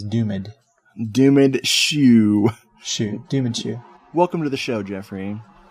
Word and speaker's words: Doomed: I feel like it's different every time I say it, but that's okay. The correct pronunciation is Doomed.